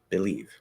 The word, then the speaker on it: believe: i'm looking at it it says that believe is be it uses the a like an it right um and then the second syllable is the stress syllable and it's leave right so believe now the reality uh